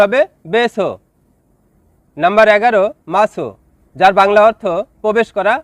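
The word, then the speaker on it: masuk: Number 11, মাসো, যার বাংলা অর্থ প্রবেশ করা বা ঢোকা। শব্দটি লেখার ক্ষেত্রে লিখতে হয় মাসুক, তবে এর সঠিক উচ্চারণ হবে মাসু।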